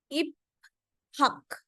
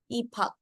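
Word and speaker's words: 입학: This is इप हक. इप हक, दैट इज रॉन्ग. जब हम इसको प्रोनाउंस करेंगे तो इसकी प्रोनाउंसिएशन क्या बनेगी, ई हक. इफक.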